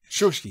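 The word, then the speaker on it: Shuisky: How should I say it? Shushki? Shushki. Oh, okay. I'm miles off. So little Ivan really disliked Prince Andrei Shushki.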